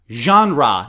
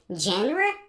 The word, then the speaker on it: genre: Genre. Now also pay attention to the pronunciation because many students maybe say genre? But it's actually genre.